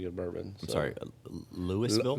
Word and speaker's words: Louisville: bourbon so I'm sorry Lewisville Louisville okay all right yeah now it's not Louisville it's not Kentucky but it's Louisville Louisville Louisville yeah yeah you can't